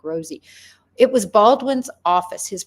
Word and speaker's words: Rossi: These are two defense attorneys from two different offices, Rossi and Baldwin. Rossi had nothing to do with it, or Rosie. I think they pronounce his name more like Rosie.